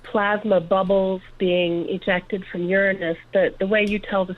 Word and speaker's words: Uranus: But when he used the proper language that I call the pronunciation as Uranus, and not the other direction, as many people do.